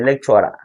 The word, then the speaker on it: lecturer: You know, the lecturer. It is not lecturer. lecturer It is lecturer. lecturer That last syllable of the word is not having any stress. It is an unstressed syllable.